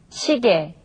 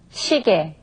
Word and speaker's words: 시계: Okay, now when consonants other than ing or riul are combined with ye, then the sound changes from ye to e.